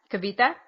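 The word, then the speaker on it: Cavite: in I don't know how to say this Kaviti kabita kabita that yes yes which is my first stop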